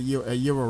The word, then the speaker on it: Gyro: I left the Fudgery and went upstairs and worked at Euro Rep, which is spelled Gyro.